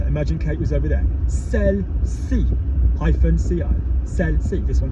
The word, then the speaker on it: celle-ci: Celle-ci, hyphen C-I, celle-ci, this one here.